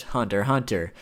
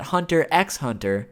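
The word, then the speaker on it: Hunter × Hunter: I know it's pronounced Hunter Hunter, but I just personally think that Hunter X Hunter sounds cooler.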